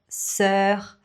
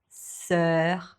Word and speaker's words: sœur: Donc, cœur, sœur. Mais j'ai appris une astuce. Il faut le prononcer en laissant vraiment la bouche un peu ouverte. Donc, cœur, sœur.